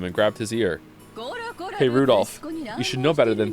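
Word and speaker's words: Rudolf: on it's just anyway this guy's name is pronounced Rudolph haha he must hate grandfather for giving him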